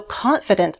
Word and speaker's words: confident: In fact, some dictionaries show confident like this, with two schwa symbols.